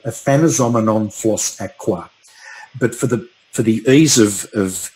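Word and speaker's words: Aphanizomenon flos-aquae: I will pronounce it for you, but it's called Aphanizomenon floss aqua.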